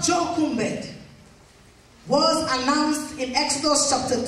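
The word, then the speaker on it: Jochebed: j o c h e b e d pronounced jumed a woman called jumed was announced in Exodus chapter 2 a woman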